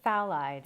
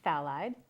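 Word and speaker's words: phthalide: a fancy name so it's actually phide and it's it's actually spelled p h t h a l i d so it's phide and it's um works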